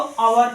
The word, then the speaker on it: hour: एक कॉन्सोनेंट होता है, लेकिन इसको यहाँ पर हम प्रोनाउंसिएट जब करेंगे तो ये साइलेंट लेटर आता है और इसको आवर पढ़ा जाता है, आ से स्टार्ट होता है, इसलिए इसके पहले आर्टिकल एन का उपयोग किया जाता है।